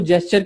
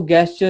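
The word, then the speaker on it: gesture: और जो ये जेस्चर है, इसको जेस्चर की तरह समझे, इसको गैस्चर या कुछ और मत समझे, ठीक है। तो ये जेस्चर है, इसको क्लियरली प्रोनाउंसिएशन करें।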